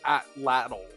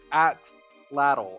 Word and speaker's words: atlatl: but I just looked up the actual pronunciation and it's atlatl or atlatl. Atlatl. Atlatl.